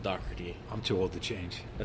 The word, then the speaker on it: Dougherty: And, it's spelled like Dougherty or Dougherty, but it's pronounced Dougherty.